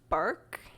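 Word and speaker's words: Bourque: It's from 1979 to the year 2000, which is considered the Ray Burke era. I think that's how you say his last name. It's spelled B O U R Q U E.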